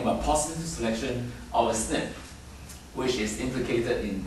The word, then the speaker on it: SNP: this kind of variance are called snip so single nucleotide polymorphism so it's a short form of SNP and then is pronounced